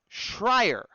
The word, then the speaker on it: Schreier: I always get his name wrong, so I wrote this down. Schreier.